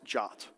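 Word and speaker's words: JWT: And one solution to that problem is JSON web tokens pronounced jot.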